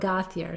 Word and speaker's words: Gauthier: Everybody pronounces it differently. I thought he it was says okay. My name is Gauthier, so I go with that.